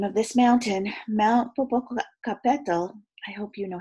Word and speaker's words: Popocatépetl: And to top it all off, I can't say the name of this mountain, Mount Popocatépetl, I hope you know how to say it, is smoking. Mount what? Popocatépetl. Nicole pronounced it slowly.